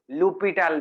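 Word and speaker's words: L'Hôpital: expansion l foreign role or lopital l hospital rule or you can pronounce as a lupital method these five methods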